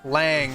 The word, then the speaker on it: Lang: It's pronounced It's pronounced like Wang. Lang.